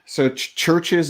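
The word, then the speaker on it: CHVRCHES: Yeah, I like Churches is like one of my favorite bands. Churches spelled with a V.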